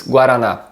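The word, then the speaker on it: guaraná: have a chance give it a go the pronunciation is guarana to finish the video let's talk about two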